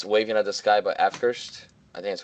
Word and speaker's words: Avkrvst: My pick is Waving at the Sky by Afkirst. I think that's how you call it. It's AVKRVST, Afkirst. At least that's how I see people pronouncing it.